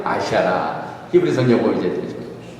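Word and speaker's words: אשרה: 우리가 다 배웠잖아요. 알렙, 신, 레이시, 헤이. 아쉐라. 헤이. H. 발음이 되죠? 아쉐라.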